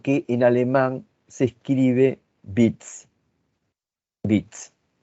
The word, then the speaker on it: Witz: En realidad, lo que Freud sitúa como chiste es lo que en alemán se escribe Witz.